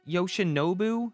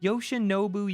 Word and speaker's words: Yoshinobu: Yoshinobu, did I say it right this time? I think I did. Yoshinobu Yamamoto had a pretty great rookie season.